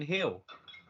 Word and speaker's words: Gil: Brian Hill. I mean, it's spelled Gil, but because he's Spanish, it's pronounced Hill.